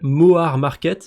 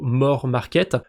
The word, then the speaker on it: Moar Market: Ça s'appelle Moar Market. J'imagine qu'il faut le prononcer plutôt More Market.